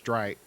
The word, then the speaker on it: Streit: who was there i i always called him judge straight because i didn't know how to pronounce his name but it was judge streit who was also there